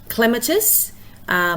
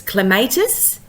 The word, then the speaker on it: clematis: I'm going to use the example of clematis, which you may look at it and think it's clematis, but it's clematis because we're placing the stress on the 1st syllable because there's only 2 or 3 syllables.